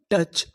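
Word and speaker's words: touch: मैं आपको बता दूं कि यहां पर जो हमारा ओ यू है वो हमारा साइलेंट है। इसका हम लोग यहां पर उच्चारण नहीं करेंगे। सी एच च अन टच और आगे ए लिखा है ए की मात्रा।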